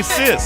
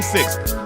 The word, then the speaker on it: six: They say sis. Don't be talking They like say that. sis. They don't say six.